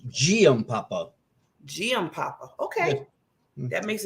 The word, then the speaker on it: Giampapa: Well, it's a soft G. It's Giampapa.